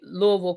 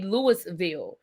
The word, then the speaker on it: Louisville: You say Louisville correctly. No, I'm not from Kentucky. I just say it right. I don't know. I was always taught to say Louisville. I don't I'm It's funny because I've never heard people say Lewisville. People really say Lewisville or Louis or is it